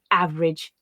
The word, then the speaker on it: average: every favorite several and there are places where all speakers might read them with that additional syllable but as i said they tend to be reduced to average every favorite several and that's the pattern that i would encourage you to practice them at so we'll listen again